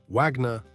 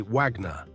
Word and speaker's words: Wagner: Eight, Wagner, the wagon maker. How you say it, a classic mistake. Americans say Wagner. Germans say Wagner, because in German, a W sounds like a V.